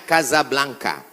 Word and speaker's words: Casablanca: kuliah nama negaranya Maroko ibukotanya tulisannya Casablanca cara bacanya Kasablanka Kaza artinya rumah Blanca